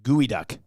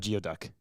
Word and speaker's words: geoduck: Fergie's prostate says it's pronounced gooey duck. Not geoduck.